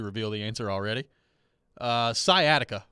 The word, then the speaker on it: sciatica: the answer already uh sciatica was the word that joe rexrode mispronounced famously as skiatika skeyatika pronounced by joe rexrode yep never living that